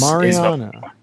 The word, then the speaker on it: Mariana: Help me understand how to pronounce this company's name. I don't want to get it wrong. Mariana Minerals. Mariana.